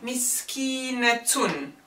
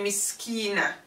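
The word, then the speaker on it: مسكينة: poor person miserable so the feminine of my skin is miskeen a tune but we don't pronounce that summer buta when it's placed in the end say miss kina sorry bad just if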